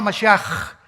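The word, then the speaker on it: משיח: Todos, por ejemplo, dicen Yeshua a Mashiach. O sea, Jesús el Mesías. Se escribe Mashiach. Jesús el Mesías en el hebreo. Pero se pronuncia la CH. Yeshua Mashiach.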